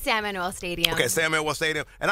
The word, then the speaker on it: San Manuel: It's San Manuel Stadium.